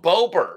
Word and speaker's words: Bober: what's the proper way to say his last name again? Oh, Bober. Bober.